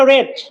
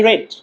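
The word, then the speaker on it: read: কি বস না প্যাসিভ তখন এটা হয়ে গেল রেড রেড আছে না আরডি রেড এই উচ্চারণটা হয়ে গেল রেড দেখুন পড়া হচ্ছে বিং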